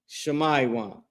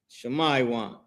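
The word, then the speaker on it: שמעון: The tribe of Simeon and the Hebrew, their name is Shamaywan. Shamaywan. And you can see uh this is the spelling of their name right here. Shamaywan, right?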